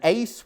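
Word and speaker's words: εἰς: it's actually um an ace word people don't say ace anymore do they but but it's literally Ace because that's how you pronounce the Greek word translated in there Jesus is saying don't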